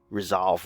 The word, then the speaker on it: resolve: Whereas when I resolve a vector, resolve rhymes with dissolve, I break it down